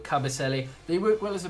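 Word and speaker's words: Kabasele: I know I said Casabelli. I get his name wrong, but Cabaselli.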